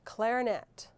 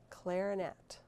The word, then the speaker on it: clarinet: Here's a tough one. Clarinet. Clarinet. In the middle syllable, the second syllable.